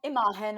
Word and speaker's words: Imagen: Imagen Award.